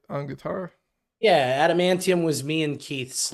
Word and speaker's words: Adamantium: Animanium, Adamantium.